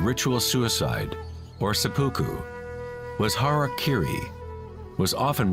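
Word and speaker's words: hara-kiri: one form of ritual suicide or seppuku was harak Kiri was often mispronounced as Harry Kerry it means to impale one's Hara thereby cutting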